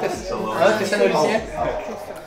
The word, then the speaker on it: Thessalonians: Thessalonians.